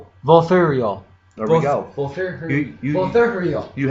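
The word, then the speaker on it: Vulthuryol: To summon the dragon, you want me to pronounce it? Verthurwall? Volthurial.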